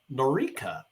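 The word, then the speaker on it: Noreika: the conditions the matter would go to Nora norika that's how you pronounce it for fact finding as she noted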